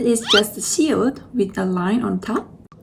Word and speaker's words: 시옷: This is 시옷. It sounds S sound, like safari.